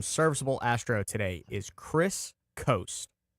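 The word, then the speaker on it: Coste: So it's spelled C O S T E, but it is pronounced coast.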